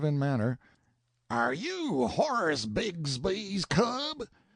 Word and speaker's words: Bixby: manner are you Horace bigsby's cub Bixby being usually pronounced Bigsby in River parlance Sam answered politely enough